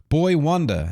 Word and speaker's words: Boi-1da: Boi-1da, that's that's spelled b o i {dash} the number one d a.